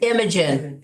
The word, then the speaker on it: Imogen: And How do you I, pronounce the name? Imogen, Imogen.